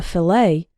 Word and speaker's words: fillet: fish is called a fillet the tea in fillet is silent vegetables can be chopped